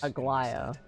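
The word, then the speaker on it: Aglaea: Aglia, would you mind taking care of this Agia? That's how it's pronounced.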